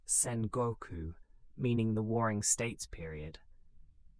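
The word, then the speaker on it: Sengoku: Japan entered the Sangoku period, pronounced Senoku, meaning the waring states period.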